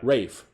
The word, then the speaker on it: Ralph: His it's not Ralph, it's spelled Ralph, but it's pronounced Rafe. Rafe Fiennes.